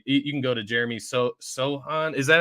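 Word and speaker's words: Sochan: You can go to Jeremy Sohan. Is that how you say his name? Yep, yep. Sohan.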